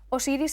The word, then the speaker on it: Osiris: Osiris es el nombre griego, el nombre que le dieron los griegos. En egipcio realmente se pronunciaría como usir o asirm y nos da los